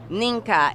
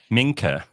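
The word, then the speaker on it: Mnike: on repeat that and ninka it it is spelled m n i k e she almost got it right almost but that song was massive like I mean minker it's better than M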